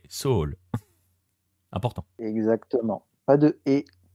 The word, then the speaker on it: Seoul: bien noté notamment que l'on ne dit pas Séoul mais soul important exactement pas de